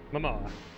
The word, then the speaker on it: Momoa: if Jason Mamoa or how do you say it is it Mamoa or is it uh Momoa Momoa let's just be honest